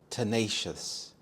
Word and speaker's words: tenacious: their most popular song tenacious tenacious the stresses on the second syllable nay tenacious this describes someone who